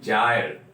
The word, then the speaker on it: gyre: जायर pronunciation क्या होगी देख लीजिए इसको जे से लिखा जाएगा JYRE जायर इसकी प्रोनाउंसिएशन होगी जायर और ये जो वर्ड